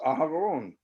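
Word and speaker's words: אהרן: i meant to say my name was was aharon hebrew for aaron um actually i meant to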